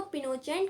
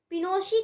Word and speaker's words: Pinochet: सैनिक विद्रोह था, जो जनरल ऑगस्टो पिनोचेट कहा जाता है, पिनोशी कहा जाता है, जो कि आर्मी जनरल था।